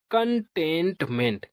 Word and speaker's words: contentment: तो CON इसको पढ़ेंगे कन, और TEN इसको पढ़ेंगे टेन, TENT टेंट। क्या पढ़ेंगे? टेंट। और MENT को पढ़ेंगे मेंट। तो इसका प्रोनाउंसिएशन होगा कंटेंटमेंट।